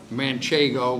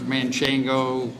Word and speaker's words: Manchego: Manchego, which is the right way to say her name, but she's been called a lot of other things, Manchango, whatever. She was a great mare.